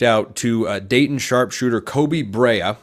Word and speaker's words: Brea: to Dayton Sharpshooter Kobe Brea I believe is how you pronounce his last name br EA and when I say